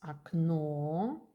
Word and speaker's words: окно: For example, окно, if the accent is here, stress окно, the first O became A.